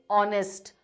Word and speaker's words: honest: We are not saying honest. We are saying honest, honorable.